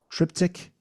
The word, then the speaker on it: Triptych: But anyway, yeah, tell us about this book, Triptych, Three Studies of Manic Street Preachers. Did I pronounce that right?